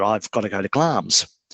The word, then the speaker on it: Glamis: got to go to glams it's it's spelt glamis if people are looking for it but it's pronounced glams and i uh i